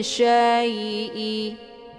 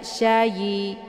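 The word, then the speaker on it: شيء: Kulli syai'i. Nah, ini syai ada ya sukun sebelumnya harokat fathah. Ini dinamakan dengan harfulin ataupun huruf lin. Cara bacanya dilembutkan saja. Syai'i, jangan dibaca syayi, syayi, keluar bunyi yi, ya.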